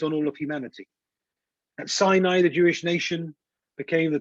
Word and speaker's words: Sinai: Because the Torah was given at Mount Sinai, and the Gemara says that when you pronounce Sinai, it sounds the same as sinah, hatred.